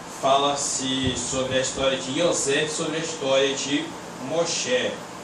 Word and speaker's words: Yosef: Fala-se sobre a história de Yosef, sobre a história de Moshe.